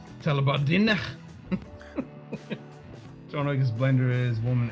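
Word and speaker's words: Tullibardine: Or it's supposed to be pronounced Tullabardine. Tullabardine.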